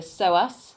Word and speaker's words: psoas: think it's crazy it's the so us so major silent p obviously yeah to begin with